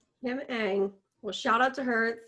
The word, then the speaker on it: Kim Ng: Pronounced Ang. So Kim Ang? Yep. Kim Ang.